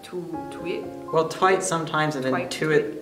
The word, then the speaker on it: TWIT: twit means you're like like the actual word twit except she pronounces it like two week well tight sometimes it